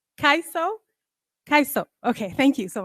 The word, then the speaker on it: Kaiso: her Discovery and naming of a new Gene Kaizo I hope I'm pronouncing it right kaiso kaiso okay thank you so much uh coined